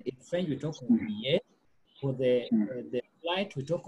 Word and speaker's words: billet: How do you pronounce that in French? Billet. Yes. It is silent.